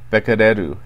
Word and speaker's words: Becquerel: Now, before this crisis began, I don't think many people in Japan had ever heard the term Becquerel, or Becquerel as it's pronounced by the Japanese.